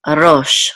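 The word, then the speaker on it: ראש: So this is ro, and this is a shin, so we'll close out that syllable as rosh, rosh, and rosh means head, okay?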